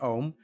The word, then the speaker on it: Om: try to chant ohm it's composed of three syllables ah ooh and and I'm gonna do it over the course of one breath okay so we're gonna start with ah and then we're gonna go into ooh and then end with them